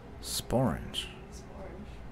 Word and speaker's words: sporange: Sporange. The only word that rhymes with orange.